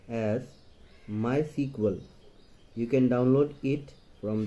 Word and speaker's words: MySQL: It is pronounced as MySQL.